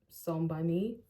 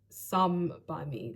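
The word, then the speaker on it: Some By Mi: It's from Beauty Hut, but the actual brand is Som by Me. I think that's how to say it. Som by Me. Oh, actually, why am I saying some like that? It's Some by Me, literally SOME.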